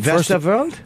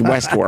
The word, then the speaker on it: Westworld: Listen, Westerworld? They're not going to. It's Westworld. Definitely not how it's pronounced.